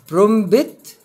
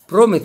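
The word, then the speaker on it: prompt: دام معناها اللعنه برضو لا ينطق حرف البي اللي هو التقيله ت اذا اتى بعده حرف التي يعني هنا اقول ايه برومبت ولا برومت برومت على طول معناها عاجل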